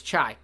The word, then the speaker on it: Chai: canora we have the chai Village or Chi Village uh I didn't really land on a pronunciation so whichever you want H it is based on oh it's chai cuz China cuz plate